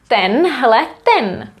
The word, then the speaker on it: tenhleten: Tenhleten. One word, tenhleten pán. This man here, or this one man. Tenhleten. I wrote it in a weird way, but we would spell it as a normal word.